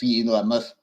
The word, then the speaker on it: Famouth: FTH pronounced famoth.